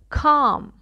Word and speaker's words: calm: calal okay is silent okay silent drop it okay calm Cal pal pal and palm has two meaning